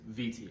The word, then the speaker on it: Viti: So the name Fiji is actually the anglicized version of a mispronunciation of the actual name of the island nation, which is Viti, as the locals call it.